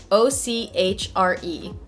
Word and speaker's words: ochre: word and i feel always embarrassed saying it ochre hey google how do you pronounce o-c-h-r-e that's pronounced okay cool so my natural inclination